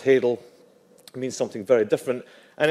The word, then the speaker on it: hadal: It autocorrects to halal when you type it into an Apple product. It's pronounced hadal, means something very different, and it's basically in keeping with this bathyal, abyssal, and hadal.